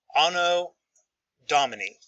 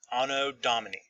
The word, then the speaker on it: Anno Domini: Anno Domini is how you pronounce it. Anno Domini.